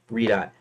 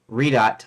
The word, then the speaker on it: Redot: pronounced but I I I call uh redot I don't call it redo I call it redot anyways and no I